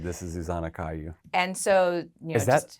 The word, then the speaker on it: Kajuch: said this is Zanna Caillou and so you is that is it Slovak it's Slovak the J is pronounced like a y my sister's name is